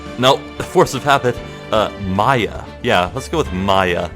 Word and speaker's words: Maya: she's 17 and secondly Maia's name is actually closer pronounced to papaya so not maiya but more like maiya nope nope the force of habit Maya yeah let's go with